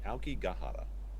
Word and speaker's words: Aokigahara: No, it's Aokigahara.